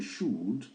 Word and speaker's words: should: La contraction des should not. On écrit should mais on prononce should on prononce pas le L. Ici il faut l'ignorer même s'il est là.